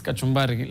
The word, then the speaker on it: Kachumbali: Now, going into Kachumbali, which has been, so you spell it with an L-I, like it's, for Kenyans, it's Kachumbari, like the salad that guys always have in Kenya.